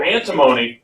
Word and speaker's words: antimony: symbol SB right ok so antimony rhymes with Alamo and if you have to pay alimony you have to pay